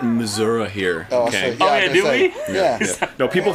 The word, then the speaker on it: Missouri: the middle isn't it we call it Missour here do we no people from Missouri call it Missour you